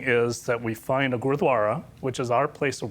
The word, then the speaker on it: Gurdwara: - All right, you have to promise me to help me pronounce what you just said. - Gurdwara.